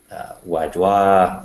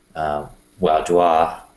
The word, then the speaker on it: Vaudois: So tonight, I'm thinking we would just talk about the Waldenses or Waldensians, or the Vaudois, I think is how you say it, which means valley dwellers.